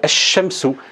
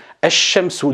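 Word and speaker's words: الشمس: Et là, si on le lit, on va dire ash-shamsu, ash-shamsu. Donc le lem ici ne se prononce pas et le lem ici se prononce.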